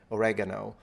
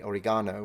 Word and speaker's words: oregano: little linguistic interest uh I know that Americans say oregano in England you say oregano which is how I learned it in you know